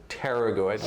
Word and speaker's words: pterygoid: there's some others, but there's your pterygoid muscles, which are spelled like pterodactyl, PT.